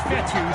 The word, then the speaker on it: Fetu: So Coach Fetu, spelled F-E-T-U. For the longest time, I was pronouncing it Coach Feta, like feta cheese.